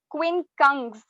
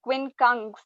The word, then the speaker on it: quincunx: the correct pronunciation it's quincunx g the sound of g should be audible quincunx the second spelling for